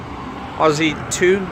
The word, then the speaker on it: Ozito: think always eat to Ozzy to I think is how you pronounce all odds you to